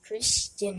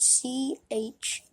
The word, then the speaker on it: Christian: Hello guys, my name is Christian again. My name is Christian. It's spelled CHRISTIAN, Christian.